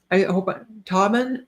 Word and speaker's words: Tobin: Tobin. Okay. I hope Tobin, like is it Tobin like Robin?